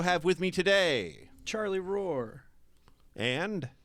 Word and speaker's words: Rohrer: okay I also have with me today Charlie Roar and K uh you heard it there first folks that is how you pronounce it in the his native tongue of